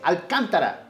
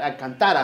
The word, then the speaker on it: Alcantara: It's Alcantara, not Alcantara, how she said it.